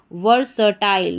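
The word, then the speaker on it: versatile: तो देखिए फिर से, VER वर, SA स और TILE टाइल। तो पूरी स्पेलिंग हमारी क्या बन गई? वर्सटाइल, वर्सटाइल।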